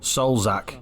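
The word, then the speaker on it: Salzach: National Austria so we're going into Austria it's pronounced soulzak ostrich it's a bird in it ladies and gentlemen and welcome to Austria thank you oh he's coming off Salzburg 50.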